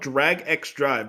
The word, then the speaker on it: Drag X Drive: They It's called Drag X Drive, but the X is pronounced and. That's the only time I've ever seen X pronounced as and.